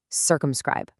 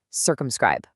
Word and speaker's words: circumscribe: It breaks down beautifully into 3 distinct syllables. You've got sir, cum, scribe.